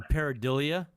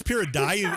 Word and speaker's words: pareidolia: It's pareidolia. It's pareidolia anyway. It's pronounced dialia. Pareidolia. Pareidolia. Yeah, but anyway, yeah, they have to come up.